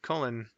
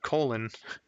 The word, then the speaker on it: Cullen: to feel bad because there's a guy i know named cullen but as a kid i always pronounced uh the name is uh colon and i never realized until i grew up oh that's unfortunate